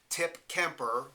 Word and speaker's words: Tip Kemper: that as an example tip keer now first name's one syllable second name two syllables so if you play